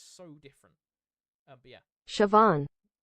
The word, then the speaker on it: Siobhan: There is a rule. If you look at a Gaelic word and you think you know how to pronounce it, you don't. Because you don't pronounce Gaelic how it looks.